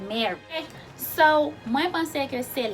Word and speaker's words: Mary: Pour différencier prononciation et spelling là et orthographe là, Marie M-A-R-I-E prononcé Marie, Mari, M-A-R-Y, prononse mare.